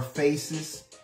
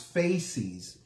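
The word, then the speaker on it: fasces: necessarily pronouncing it correctly on Sunday I was pronouncing it more faces and it's it's really pronounce faces and it is it is this um two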